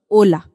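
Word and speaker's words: hola: pronounce h is a however in a word it is always silent we are going to say this word is Oka just like we learned Ola okay let's move on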